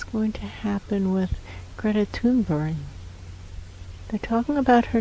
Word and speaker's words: Thunberg: There is no H sound in that language. That's right. It doesn't exist. The sound doesn't exist in that language. Thunberg. And the B-U-R-G, Buri, that's how it's pronounced.